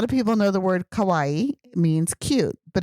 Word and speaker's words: kawaii: people know the word kawaii means cute but it's Kawaii so it's always nice to pronounce the last e kind of like Kawai yeah because if you say kaai that means scary so you don't want to